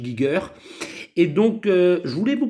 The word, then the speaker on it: Giger: Voilà, moi je le prononce Giger, hein. Il y en a qui disent Giger, moi je dis Giger.